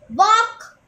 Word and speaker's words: walk: Run, walk, hop, crawl. Answer, crawl, walk, hop and run. Underline the letters which are silent in the following words. Walk. What is the silent letter in that?